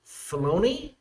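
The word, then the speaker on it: Filoni: this show which is David filon is how you say it yep Fon you got it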